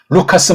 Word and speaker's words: 루카스: icr을 허면고를 대려고 한다 제가 누가라고 하지 않고 루카스라고 한 건 원어 발음이 그렇게 나오니까 그렇습니다 리을 니은으로 해라 하는 건 엉터리인 두음법칙이에요 세상 법칙이에요이 나라를 말살한 일제의 관계가 설에 있는 엉터리 한글 표기란 말입니다 우리는 루카스라고 발음도 낼 수 있고 글로 표기할 수 있으니 그렇게 당장 바꿔야 되겠죠